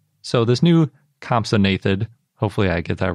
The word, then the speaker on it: compsognathid: I can't remember how long ago I realized that it wasn't pronounced compsognathid, but compsognathid.